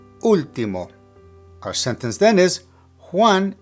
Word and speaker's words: último: Now notice that there's an accent on the very first letter of the word. Whenever you see an accent in a word that has more than one syllable, that is where the emphasis of pronunciation needs to be placed.